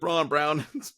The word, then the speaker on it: Braun: Can someone tell Christian Braun to change the spelling of his last name or just change how we pronounce it? No. Come on now. You see Braun Brown.